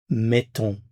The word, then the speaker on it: mettons: Notice that there is a change in the pronunciation of the vowel. Here it's mais, mettons. Mais, mettons. When you pronounce this mais here, your tongue is a little bit higher.